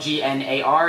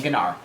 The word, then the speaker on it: Gnar: I love gennar uh his name is spelled g-n-a-r it's pronounced Gnar but I like saying ganar um his ultimate ability is literally dinar in